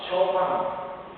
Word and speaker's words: Chopin: 음악가 쇼팡 다 알지요? 쇼팡 철자가 어떻게 쓰나요? CHOPIN 쇼펜입니다. 그 쇼팡을 쇼핀 이렇게 읽으면 됩니까? 안 되죠.